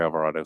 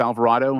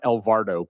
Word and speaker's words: Alvarado: it very very well I get a lot of different pronunciations avocado Desperado Silverado uh just not El vardo please anything that last day